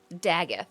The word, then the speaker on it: Dagath: Daggeth, there we go.